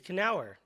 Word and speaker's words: Knaur: something, it's like, yeah, Knaur hour. It's just too easy. And I love it too because it kind of trains people to pronounce our last names.